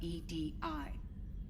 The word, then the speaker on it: EDI: me the airlock is ajar is the phonetic pronunciation of edi that is an acronym for enhanced defense intelligence